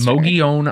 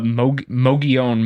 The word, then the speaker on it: Mogollon: Mogollon monster, not the Mogollon monster, no matter how it's spelled, because my brain wants to say Mogollon every time I read it.